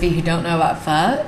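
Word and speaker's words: phở: Most of you probably pronounce it as pho. It's spelled P-H-O. It is not pronounced like that. It's pronounced pho. Just kind of think you're saying the F word and then stop before the K.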